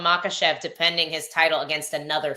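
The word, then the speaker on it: Makhachev: would you make first you said it wrong you meant to say Islam makev defending his title against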